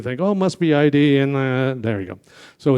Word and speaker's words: id: I did "We're in demand" as our slogan, and I kind of made everybody think, oh, it must be ID, and there you go.